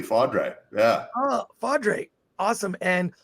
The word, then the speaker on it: Faudree: ask akanika you you you did pronounce it correctly fadre yeah oh fadre awesome